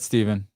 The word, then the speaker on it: Stephen: Pronounce Stephen like the Bible. Got it, Stephen.